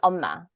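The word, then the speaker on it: 엄마: And there's something so heartbreaking about, was it Amma? How would you pronounce that? AMMA? Is the stress on the end, or like for mother? Oh, it's Omma. Oma. Yeah, the stress is on the first syllable.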